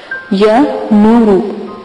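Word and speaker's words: يا نور: تو آپ لفظ کے ہجے سن لیں۔ یا زبر یا، نون پیش و نو، را پیش رو، یا نورو۔ عبارت عمل کی یہی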